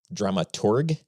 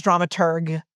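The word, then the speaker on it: dramaturg: You usually pronounce it as like if you're in conversation is drama tur with a G. So, dramatur.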